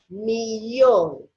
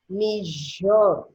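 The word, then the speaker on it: millón: is exactly a million they may be saying ooh me Yoli or as you will hear certain people say me sure okay but it's a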